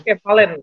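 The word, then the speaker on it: κεφαλήν: Oh, Tapi di sini kefalen. Bacanya kefalen, gonias.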